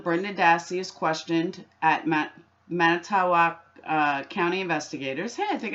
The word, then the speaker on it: Manitowoc: Now, going back 2 days, even though Teresa wasn't reported missing, on 11/1, Brenda Dassey is questioned at Manitowoc County investigators.